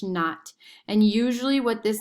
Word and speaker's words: naught: plus h naught so whenever you see like um a variable with a sub zero it's pronounced not so it's negative 16 t squared plus h naught and usually what this